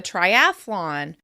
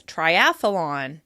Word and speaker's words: triathlon: Athletes may choose to complete a triathlon, which is often pronounced as "triathalon" with an extra "a" in the middle.